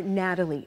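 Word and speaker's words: Gnatalie: We're getting a behind-the-scenes look at the more than 75-foot long-necked green dinosaur Natalie before it's open to the public. Natalie spelled with a G because of the stinging gnats that pestered excavators.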